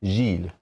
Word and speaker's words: Gilles: Gilles. Yeah, the ES on the end kind of like throws me off. Where I'm like, do I say that?